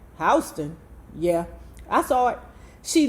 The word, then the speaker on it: Houston: I saw him on a huge billboard yesterday on Houston Street, Mimi said, pronouncing the street's name as one would the city. Where? Houston Street. Hon, Lena corrected. Hston.